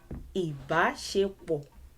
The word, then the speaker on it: Ìbáṣepọ̀: Ìbáṣepọ̀, ìbáṣepọ̀, ìbáṣepọ̀, ìbáṣepọ̀. There are 4 syllables. I. Does it align with do? Yes. I. Do. I. Do. I. Or does it align with re? I.